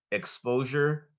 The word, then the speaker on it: exposure: North ready yes your word has two correct pronunciations exposure exposure may I hear the word again exposure